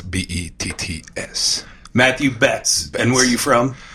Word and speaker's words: Betts: hard isn't it it is hard it's actually pronounced bets be ETTs Matthew bets and where are you from I'm from Montreal